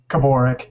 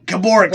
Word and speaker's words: Kimura: pronounce your last name Kimura Kimura see I always want to say Cooper rec but I put the Apostles on the wrong syllable I wanted to thank